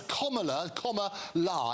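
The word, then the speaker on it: Kamala: television get it right it's comma Comm La is how you pronounce it as in communist as in as in Comm absolutely you're you're absolutely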